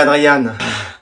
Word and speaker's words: Adrien: Adrien, ça va? Je préférerais Adriane.